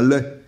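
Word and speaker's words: legs: je sais plus laquelle j'ai découvert que la vraie prononciation c'est un lait la oui et on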